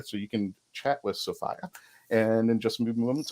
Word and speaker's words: Sophia: the correct way to say her name is sophia i've been corrected and i've corrected my 10-year mistake so i apologize to sophie about this and i want to welcome everyone